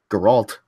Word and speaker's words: Geralt: Geralt.